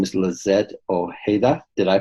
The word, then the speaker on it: Lizette Ojeda: Her name is Lizette Ojeda. Did I pronounce that correct?